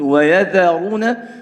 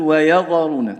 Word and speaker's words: ويذرون: في الذال لمجاورتها الراء المفخمة، إذن ممكن الذال هذه ننطقها ضا ويضا وهذا خطأ. لماذا؟ لمجاورة الراء لها، والراء هنا مفخمة، إذن نقول ويذرون ولا نقول ويضرون، تمام؟